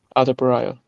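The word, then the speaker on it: Adarabioyo: How do you say it? Adebayo? Adebayo. I still can't say it. Say it again. Adebayo. There we go.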